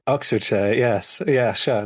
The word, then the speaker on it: Oxfordshire: even said Ox Oxfordshire is that how you say it Oxfordshire Oxfordshire yes yeah sure not